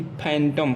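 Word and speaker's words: phantom: अगला एग्जाम्पल लेते हैं PH से, यानी कि PH का हम फ बताए हैं, यानी कि फैंटम। फैंटम मीन्स होता है छाया या भूत प्रेत। तो PH का उच्चारण यहाँ भी फ के रूप में हो रहा है।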